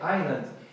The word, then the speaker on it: island: uma explicação lógica e se essa não tem pronúncia e o legal aqui tem outra palavra trilha em inglês que é island que é ai ai o alho dom ilep